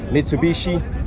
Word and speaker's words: Mitsubishi: Bang Mitsubishi Eclipse comme on prononce ici aux États-Unis. Metsubishi Eclipse, l'éclipse du futur.